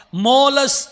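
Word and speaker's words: Tmolus: எங்க இருக்குது அப்படின்னு சொன்னாக்க மோலஸ் அப்படின்ற ஒரு மலைகள் ஒரு மலைகள் சூழ்ந்த ஒரு இடம் மோலஸ் மோலஸ் மோலஸ் அந்த இட் வந்து சைலன்ட்ல உச்சரிக்கணும் அந்த வார்த்தை மோலஸ் அப்படின்ற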